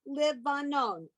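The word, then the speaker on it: לבנון: This line 17, Ke'erez ba livanon, okay, or bal vanon. The ba in front of the word is a prefix meaning in. And Livanon is the Hebrew way of pronouncing the name of the country that's sort of north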